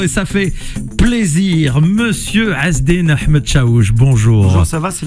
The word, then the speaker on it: Azzeddine Ahmed-Chaouch: est de retour et ça fait plaisir Monsieur hasd Ahmed chou bonjour bonjour ça va c'est la première fois